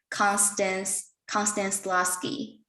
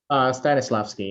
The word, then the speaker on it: Stanislavski: the interview, and I watched like was Constance Lasky. Stanislavski, yeah. Yeah, Stanislavski. Konstantin Stanislavski. Constance Right. Stanislavski. Yeah. Okay, that pronunciation is a little bit difficult for me.